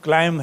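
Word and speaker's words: climb: भी अक्षर आया तो जैसे क्लाइम है तो बी का उच्चारण नहीं होगा क्लाइम है टूम है टी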